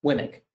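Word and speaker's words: WMIC: this okay next example wimmick okay so we can pronounce winnick like i'm saying uh it's located there's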